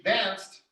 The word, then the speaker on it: danced: repeat nothing dance dance that's the one that ends with like the t sound so she danced all night excellent number